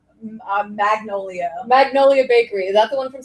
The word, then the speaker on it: Magnolia Bakery: That to me, like it's screaming Mongolia's Bakery, here in New York.